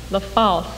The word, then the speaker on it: LaFalce: The last of the, how do you pronounce it? LaFalce.